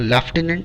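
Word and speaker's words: Lieutenant: इसको प्रोनाउंसिएशन किया जाता है लेफ्टिनेंट, बट इसके स्पेलिंग थोड़ी सी एक और डिफरेंट है, तो please be careful about it.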